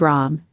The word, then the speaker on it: Ram: writings is that of ram pronounced rom as with ra it